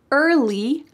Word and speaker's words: early: There are 3 words, early, bird, and worm, that use a colored R. So in American English, this R is a strong, hard sound.